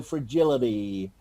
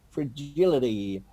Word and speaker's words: fragility: The T this word, for example, in British English, we would pronounce the T. In American English, it sounds more like a D, you know, fragility, fragility.